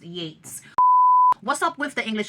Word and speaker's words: Yeats: The unabridged early poems of William Butler Yeats, I believe I mean, it's spelled Yeats. I'm almost certain it's pronounced Yates.